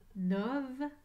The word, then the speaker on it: novembre: Comme dans le mois de septembre et octobre, novembre termine avec le son BR, B-R, collés ensemble. Et la lettre E, muette. Comme dans septembre, le son AN s'écrit E-M. Attention, j'entends AN, non pas M, en novembre.